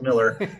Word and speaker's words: Mueller: get to uh mitch mueller miller spelled mueller but pronounced miller but uh we our